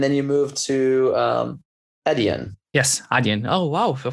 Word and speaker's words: Adyen: you moved to um edian yes adian oh wow one of the first people that actually pronounce it right everyone says adrian again well uh